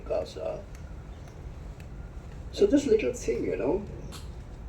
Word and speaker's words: Gaza: receive images of, say, Gaza. So this little thing, if you notice when I say Gaza, usually we pronounce it in a certain way, Gaza. I cannot say it like that anymore.